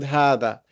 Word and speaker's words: هذا: not pronounced, that are not written but are pronounced, like the word hada.